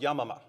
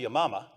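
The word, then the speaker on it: Yamama: the day of Yama now I noticed Jay mispronounces this in exactly the way I do I wonder if it's for the same reason it's actually your mama but people laugh when you say your mama so you can't say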